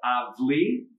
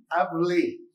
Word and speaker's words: Avli: It's called Avli. Avli. It's spelled A-V-L-I. I had some diners here last night, a group of 6 young ladies who said, "Are you Mr. Avli?" And I said, "I'm Mr. Avli."